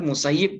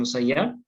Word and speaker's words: Musayyib: bedtime Sahin gibony al-musayyib nah ini yang yang populer musayyib bacanya bukan musayyab Ana Rasulullah Sallallahu Alaihi